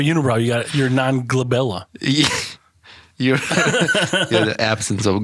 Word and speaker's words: glabella: space between your eyebrows is called a glaba glabella did you know that so you got this